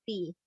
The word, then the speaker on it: 的: Tapi kalau kamu dengar lagunya, dia menyebutnya pakai ti. 我的心 gitu. Ketika dia nyanyiin gitu. Nah, jadi karena ini dia ada dua nada bacanya ya. Nah, dia ada dua nada bacanya, ada dibaca te, ada dibaca ti.